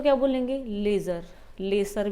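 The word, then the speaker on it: lessee: लेसी है, लेजी नहीं है, LAZY नहीं है, ये आलसी हो, ये लेसी है।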